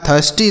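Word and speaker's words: thirsty: तो एस से आधा श बनाएंगे और टी से लिखेंगे ट। वाई से बड़ी ई की मात्रा। आर से ऊपर वाला र बना देंगे। लिखा है थस्टी।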